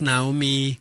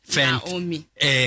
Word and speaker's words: Naomi: Did I pronounce Naomi correctly? Very correct. Naomi. Fantastic.